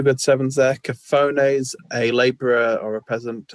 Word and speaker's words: cafone: Cafones, a labourer or a peasant, especially one who is Italian or of Italian descent. And the G, even the Gavone, is pronounced Cafone as well, isn't it?